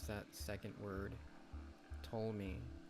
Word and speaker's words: Ptolemy: Ptolemy. I think the P is silent.